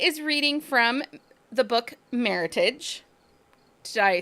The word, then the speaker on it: Meritage: reading from the book Meritage did I say it right Meritage like Heritage yes not Meritage correct um I can make